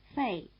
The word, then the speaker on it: Fei: Fei, Wei, Gui. Listen again, they rhyme.